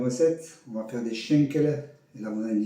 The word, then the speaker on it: Schankala: Aujourd'hui, on va faire une recette, on va faire des schenkele. Et là, vous allez me dire, mais qu'est-ce qu'il nous fait encore ce couillon avec ces trucs alsaciens? Schenkele qui s'écrit shankala, qui est aussi appelé cuisse de dame.